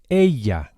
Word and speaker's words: ella: And the way to say she is ella. Ella. The Spanish double L is pronounced very similarly to an English Y with just a hint of J.